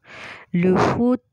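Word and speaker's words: le fouet: T pronounce है, नहीं हो रहा है यहाँ पे, क्योंकि टी के बाद अगर ई होता तो हम प्रोनाउंस कर रहे होते, बट यहाँ पे टी नहीं हो रहा because it's just T एट द एंड. तो लुफू, लुफू.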